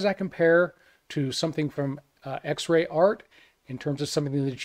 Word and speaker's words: XREART: the x-ray art and i sure hope i'm pronouncing that correctly but i believe that's how it's meant to be pronounced x-ray art and behind that is